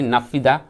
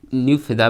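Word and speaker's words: Naypyidaw: Myanmar की राजधानी है नाफिदा और इसकी मुद्रा है क्वाथ।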